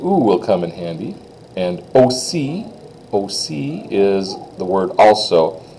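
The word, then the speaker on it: aussi: M OC o like the big capital letter O C like a big cap letter C in English OC that's how it's pronounced so let's say those one after the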